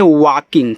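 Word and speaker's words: walking: डब्ल्यू ए एल के आई एन जी, इसको पढ़ते हैं वॉकिंग, क्या पढ़ेंगे, वॉकिंग पढ़ेंगे, ऐसे वॉकिंग। यहाँ जो यल होता है साइलेंट होता है, यन के बाद जी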